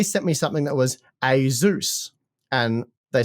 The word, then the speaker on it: Asus: great the only problem is um you've said Asus because that's how I've always said Asus uh